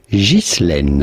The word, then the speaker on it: Ghislaine: Now in French, this is normally pronounced Ghislaine.